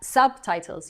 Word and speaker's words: subtitles: Subtitles. Your accent is at the beginning of the word. Subtitles. I want the T's and the S's as well as the accent on the first syllable.